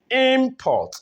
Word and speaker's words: import: Import.